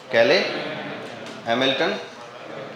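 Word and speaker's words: Cayley–Hamilton: ऊपर लिखा है कैले हैमिल्टन थ्योरम। क्या लिखा है? क्या प्रोनाउंसिएशन है? कैले हैमिल्टन थ्योरम।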